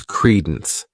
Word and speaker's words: credence: The next noun is credence. This word has two syllables and the stress is on that first syllable.